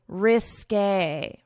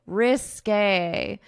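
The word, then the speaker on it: risqué: Obviously the English alphabet does not have this accent, so we pronounce it according to French pronunciation rules, which is when you have this accent to pronounce it as a risque, risque, risque.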